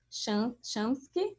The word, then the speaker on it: Schamkypou: Muito feliz de te ver aqui e de também cumprimentar aqui a professora Cláudia e a professora Chamsky, é assim que pronuncia, que quando eu entrei estava aqui falando